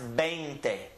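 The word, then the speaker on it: veinte: the number is banged a bang day is pronounced bang thing like a bang you know you have Bane in your arm banged a bang thing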